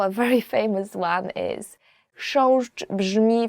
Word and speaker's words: chrząszcz: So the first word is, and I promise you this is the most difficult word you will ever learn in Polish, as for the pronunciation, is chrząszcz. I will just say it again.